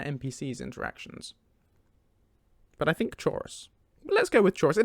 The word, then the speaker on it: Chaurus: start with this one chorus or chaurus depending on who's pronouncing it i personally prefer chorus i say chorus in my head and i believe lucian says it too although i can't think